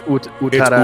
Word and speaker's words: Utada: How do you pronounce the first name? Is that Utada or Utada? It's Utada.